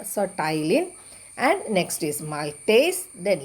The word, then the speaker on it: ptyalin: So the P is silent here. So ptyalin.